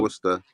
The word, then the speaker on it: Worcestershire: beer, 1 tablespoon of Worcestershire. Worcester sauce. Worcestershire. Worcestershire Worcestershire. sauce. Worcester. There It's you just go. Worcester. Worcestershire. It's spelled 1 Worcestershire, but it's tablespoon pronounced of Worcester. Worcestershire. No, just Worcester.